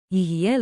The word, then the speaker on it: יהיה: Tiny pronunciation tip, say it like a smooth free beat, yi ha yi.